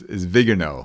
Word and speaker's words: Viganò: Billy, just about every reporter I've heard has mispronounced the name. It's Vigano. Vigano.